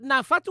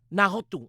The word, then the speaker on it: Nā Hotu: Do we pronounce it na fatu or na hatu mai tokelau? Nā hotu mai Tokelau. Nahotu.